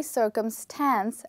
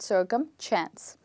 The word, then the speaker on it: circumstance: We don't have any CH in the word. We only have S. So the word is actually circumstance and not circumchance.